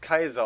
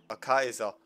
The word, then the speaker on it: Caesar: Wir würden zum Beispiel Julius Caesar sagen, aber es könnte sein, dass die Römer ihn wortwörtlich Julius Kaiser ausgesprochen haben.